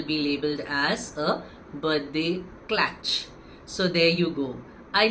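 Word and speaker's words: klatch: A birthday clatch. Does that sound ideal to you? Clatch, which is spelled as K L A T C H,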